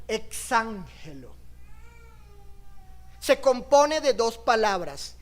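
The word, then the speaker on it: ἐξαγγέλλω: una palabra griega interesante esa palabra griega se pronuncia como exángelo se compone de dos palabras ex que quiere decir sacar y Angelo enviar qué está diciendo Pedro cuando está usando esta palabra exangelo exángelo anunciáis que está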